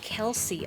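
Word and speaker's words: Khlc: points out a woman named k h l c pronounced Kelsey oh man I I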